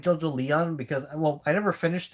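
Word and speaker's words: JoJolion: Um, but I know for sure I did not care for JoJo Leon. That's how it's pronounced like Evangelion. That's how it's supposed to sound like.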